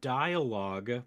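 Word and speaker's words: D1AL-OGUE: So it's dialogue, but it's spelled D1AL hyphen OGUE. Dialogue. Yes.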